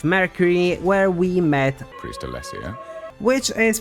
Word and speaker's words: Alessio: where we met priest Alesia which is pronounced almost perfectly there's just too much emphasis on the I it's actually alesio later on we met